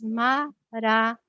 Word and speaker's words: Maranata: você escolher essa palavra pronuncia como quatro sílabas Maranata não visualize a palavra